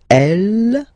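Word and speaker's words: elle: So, il or then L. So, you can notice that even if we write them differently, this E like that and E like that, we rep we pronounce them the the same way.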